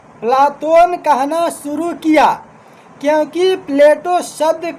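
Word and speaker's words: Πλάτων: इसी कारण उसके व्यायाम शिक्षक ने उसे प्लातोन प्लातोन कहना शुरू किया। क्योंकि प्लेटो शब्द का अर्थ ही होता है चौरा चपटा। प्लेटो शब्द का शुद्ध यूनानी उच्चारण प्लाोन है।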